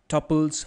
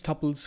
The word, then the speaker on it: tuple: Let's discuss tuples first. uh, a tuple is an ordered sequence of data. You can pronounce it as tuple or tuple. Both are well and good.